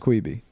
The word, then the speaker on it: Quibi: It's pronounced Queeby. It's pronounced Quibi, dude. It's Quibi. It's Queeby. Quick bite.